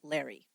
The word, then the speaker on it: Lauri: that I found said everybody pronounced it Larry Eileen as you might